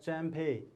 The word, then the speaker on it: Champe: And then middle name, C-H-A-M-P-E, Champey. Okay, you have to pronounce as Champey.